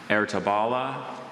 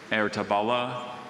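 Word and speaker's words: Ertebolle: Ertabala, Ertabala, Ertabula. Wait, just repeat all the pronunciations one more time.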